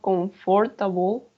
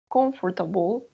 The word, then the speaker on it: comfortable: it's very clean and comfortable right comfortable not comfortable comfortable but watch your head